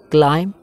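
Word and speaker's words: climb: checked checked checking checks क्लाइम यहाँ पे B letter जो है वो साइलेंट है क्लाइम क्लाइम क्लाइम्ड क्लाइम्ड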